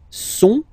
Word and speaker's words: sont: Okay, ils sont, final T not pronounced.